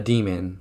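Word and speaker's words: daemon: in this world has something called a demon spelled like damon which is their inner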